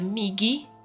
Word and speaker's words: Migi: it's if it's a migi, so with like a hard G because that's the thing